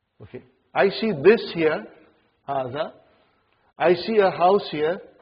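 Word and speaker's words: هذا: See, it is pronounced like haza. Huh? But this alif is not written. Huh? It is explained in the key also.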